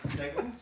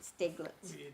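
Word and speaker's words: Steiglitz: Was it Steglitz or Stiglitz? It's Stiglitz. Calls it Steglitz.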